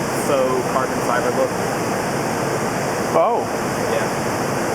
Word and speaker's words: faux: it has that like faux carbon fiber look oh yeah how's that spelled f a ux the x is silent oh